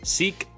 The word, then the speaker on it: Schick: How do you pronounce this? Seek.